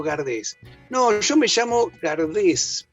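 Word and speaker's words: Gardès: Claro, exactamente, una estatua muy linda, y Gardel, que se llamaba Gardés, con ese final, y se pronunciaba Gardé, y su madre se llama Berthe Gardé, o sea, Berta Gardés, españolizado.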